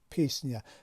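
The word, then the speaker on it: песня: در هیجای اولش باشد، ما این را چی تلفظ میکنیم؟ پیسنیا. زده در بالای هیجای اول افتاده است و بلند تلفظ می شود.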